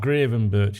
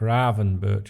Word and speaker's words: Gravenberch: him I already forgot I know it's not Graven Birch it's like Raven Birch or something like that and uh yeah there's